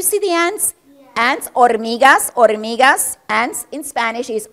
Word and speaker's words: hormiga: So, hormiga in Spanish begins with the letter H. It's a letter of the Spanish alphabet that is a silent letter.